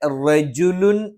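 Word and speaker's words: رَجُلٌ: അഖ്സൽ മദീനതി റജുലുൻ, ഇവിടെ റജുലുൻ എന്ന് ഉച്ചരിച്ചു പോകാനുള്ള ഒരു സാധ്യതയുണ്ട്. അത് പ്രത്യേകം ശ്രദ്ധിക്കണം. റേ എന്നായി പോകാതിരിക്കാൻ പ്രത്യേകം ശ്രദ്ധിക്കുകയും റ എന്ന് തന്നെയാണ് ഉച്ചരിക്കുന്നത് എന്ന് ഉറപ്പുവരുത്തുകയും വേണം. യസ് അ, ഇവിടെയും യേ എന്ന് ഉച്ചരിച്ചു പോകാനുള്ള ഒരു സാധ്യതയുണ്ട്.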